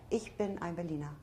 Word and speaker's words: Ich bin ein Berliner: It's correct. Ich bin ein Berliner. That's how you Yeah, say it.